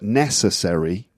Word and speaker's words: necessary: syllables yes so when you get a word like necessary the stress is on the first syllable accessory not necessary which